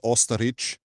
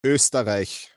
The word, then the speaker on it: Österreich: So first of all, if international stacker listens, no, it's not Osterich. It's definitely not Osterich because he always says Osterich. The correct pronunciation is Österreich.